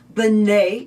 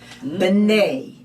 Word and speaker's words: Bnei: Or when it's talking about all of the children of Israel, it will say Bnei Israel.